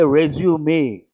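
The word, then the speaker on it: résumé: pronounce this Standard English it's a foreign word French word you have to say resume what are you supposed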